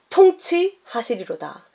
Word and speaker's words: 통치하다: 것 같습니다 그래서 여기를 여러분들도 읽으실 때 왕 노릇이라고 읽지 마시고 통치하다 모든 세상 나라가 의 나라가 되어